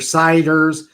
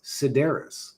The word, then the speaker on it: Cedaras: Mr. Ciders, Mr. Sitters, Mr. Citrus. Like, bro, it's Cedaras. And it's obviously Cedaras.